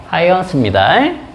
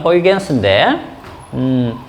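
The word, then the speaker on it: Huygens: 말로 이렇게 이름을 부르면 하이언스입니다. 그죠? 그다음에 어, 영어 실책으로 부르면 호이겐스인데음 선생님 저번에 얘기해 드렸죠. 그 과학자 이름은 원칙적으로 어떻게 부르자? 그나라 발음으로.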